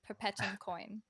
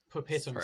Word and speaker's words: Perpetuumcoin: So Spain Drone Team confirmed that we are pronouncing it correctly. It is indeed Perpetuumcoin. Perpetuumcoin.